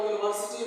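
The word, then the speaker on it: university: जैसे यहाँ पर यूनिवर्सिटी में यू आ गया, लेकिन उच्चारण हो गया य अक्षर से, यानी आ ए से नहीं आया, य से आ गया, इसलिए इसमें क्या लग गया?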